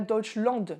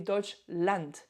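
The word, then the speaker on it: Deutschland: Mais Land A D, ça se prononce and A and N et pas and pas Dutchland mais Dodge Land.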